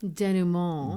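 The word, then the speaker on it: dénouement: First of all, I like the pronunciation of your French word up here. Denouement, is that how you said that? Denouement.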